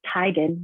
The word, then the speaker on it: Teigen: where I learned her last name is actually pronounced Teigen, not Teigen.